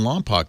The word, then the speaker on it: Lompoc: Jay in Lompoc, California.